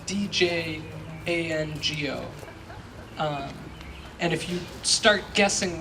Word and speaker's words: Django: If you're searching for who this is, the one secret is that there's a silent D at the beginning of his name. So his first name is spelled D-J-A-N-G-O.